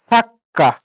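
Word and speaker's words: サッカー: সা পরে ছোট চু। এই যে কাতাকানি দিয়ে সা পরে কি ছোট চু, তো ছোট চু থাকলে কি পরওয়ার্ডটা ডাবল উচ্চারণ করতে হয় না? তো সাক্কা। সাক্কা।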